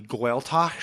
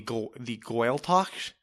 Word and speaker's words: Gaeltacht: But I believe it's pronounced the Gaeltacht. If you are, please send us an email. Come on the program. Yeah. I think it's called the Gaeltacht, which is the area